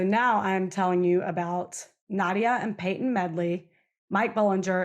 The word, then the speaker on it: Nadja: Todd Medley and his wife Nadja, and it's spelled Nadja, but every interview or every place I've looked, they pronounce it Nadja.